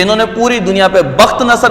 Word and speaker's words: بخت نصر: آتا ہے اور دوسرا بخت نصر کا۔ یہ 2 شخص ایسے تھے کہ انہوں نے پوری دنیا پہ، بخت نصر بھی بعض پڑھتے ہیں لیکن اصل اس کا تلفظ بخت نصر ہے، تو انہوں نے دونوں